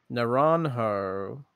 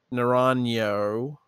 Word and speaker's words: Naranjo: thus the h w the j would not be pronounced as a j for context the spanish